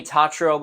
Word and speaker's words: Tatro: when she was introduced in this movie Jimmy tatrobe that's how you say his name his young